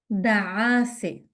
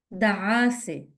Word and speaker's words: دعاسة: دعاسة, دعاسة. دعاسة. Can be a bit tricky with a double عين.